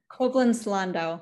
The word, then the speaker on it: Koblenz-Landau: Did I get that pronunciation correct, Emily? Koblenz-Landau.